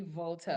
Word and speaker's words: Walter: The, He's the the German pronunciation would be Volta.